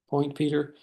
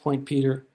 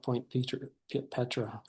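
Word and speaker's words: Point Petre: Point Peter. It's spelled Point Petra, but it's pronounced Point Peter.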